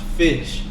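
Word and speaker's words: ghoti: like it's actually pronounced fish i swear to god because like the gh is kind of how gh is pronounced in enough and then the o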